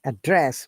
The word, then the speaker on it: address: both are correct now if you want to use address as verb so we don't we stress in a second as verb say address means to you know